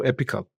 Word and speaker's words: epochal: Well, it may be my accent, but the way I pronounce it is epochal moment. And the epochal is a word derived from epoch. It is also epical. So the both are correct.